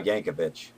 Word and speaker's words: Yankovic: I guess I guess if you say Al yankov with a J I guess whatever your accent is I guess you could say it like that I use why when I say spell his name yeah it's like Weird